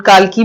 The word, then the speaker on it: Kalki: It is written by Kalki एंड काल्की भी कई लोग इन्हें प्रोनाउंस करते हैं और एक है तो